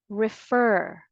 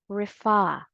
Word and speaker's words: refer: please refer to the dictionary so again let's pronounce it together refer or refa let's proceed to the second word like the